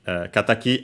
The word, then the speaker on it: 敵: And yes it it's meaning kataki accented on the last one the last syllable which means again rival